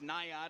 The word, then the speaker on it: Nyata: He said the easiest way to pronounce it is Nyata, and he kind of spelled it out phonetically.